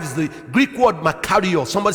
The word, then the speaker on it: makarios: The word blessed in Matthew chapter 5 is the Greek word makarios.